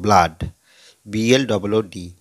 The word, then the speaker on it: blood: তখন দেখো ব্লাড, BLOOD, তাহলে এই ডবল ও দুটি ভাওয়েল পাশাপাশি বসে আ উচ্চারণ করছে এখানে।